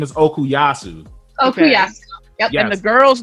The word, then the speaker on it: Okuyasu: it and then and then we we see okiyasu koichi and uh yukako and they're like his